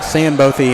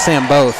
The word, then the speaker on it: Sandbothy: I didn't think that was how it was pronounced, but I was wrong. Jace Sandbothy in. I thought it was Sam Both, but I'm glad I have the correct pronunciation.